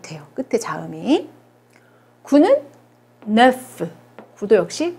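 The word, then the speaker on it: neuf: 9는 네프. 9도 역시 발음이 되죠.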